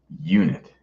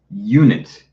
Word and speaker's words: unit: Okay, unit. This is spelled like is spelled with a vowel, of course. But guys, remember the sound is the tricky one. Yeah, unit. Exactly.